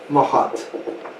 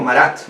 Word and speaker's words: Marat: nombre que le pusieron a él, a Jean-Paul Marat. Lo pronuncia como Marat, ¿no?